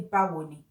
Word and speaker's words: Báwo ni: It is just three syllables. Ba wo ni. It's like saying, how do you do?